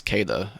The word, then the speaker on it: Queta: Neemias Queta? Is that how you say it? It's Queta.